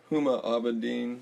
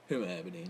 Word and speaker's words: Huma Abedin: Anthony Weiner's ex-wife is a Huma Abedin. I think is how you pronounce it. Huma Abedin, yeah.